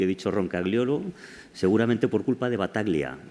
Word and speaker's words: Roncagliolo: que esforzarme para repetirlo, que se pronuncia Roncagliolo. Yo digo Roncaiolo. Es más fácil.